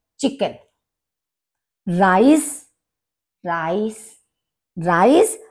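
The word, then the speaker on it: Reis: Rice, rice, rice. अब यहां पर देखिए ई आई राइस और यहाँ पर RICE राइस, लगभग एक जैसा सा प्रोनाउंसिएशन है हमारा, लेकिन स्पेलिंग दोनों की डिफरेंट है।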